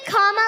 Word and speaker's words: Kamala: do you pronounce it first you say comma like a comma in a sentence then you say la like la la la la la put it